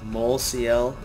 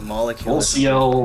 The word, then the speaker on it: molecl: How do you pronounce his name anyway? molecl? I always thought it was like molecule. molecl, I've heard it pronounced a couple of different ways. Alright. I usually just say molecule, because...